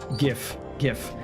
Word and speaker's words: GIF: No, not GIF. GIF. Like GIF minus the T. Yeah, soft G.